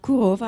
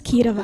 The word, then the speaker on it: Kirova: Kurova. I know I'm mispronouncing your name. It's Kirova, like but crazy.